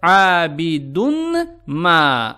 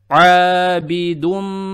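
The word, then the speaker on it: عابدٌ ما: То есть, не следует читать «abidun ma», а нужно читать «abidum».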